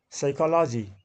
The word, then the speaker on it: psychology: there g is silent psychology this is p is silent sound is silent KN